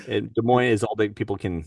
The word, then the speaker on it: Des Moines: You're like, what is it like Des Moines? Des Moines is all that people can like remember. Like that's it. That's the Maybe. right now. Well, people always mispronounce it because it's French.